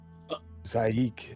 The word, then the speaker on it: Zaik: Zaik. She looks over at Bodhi. Zaik is his name.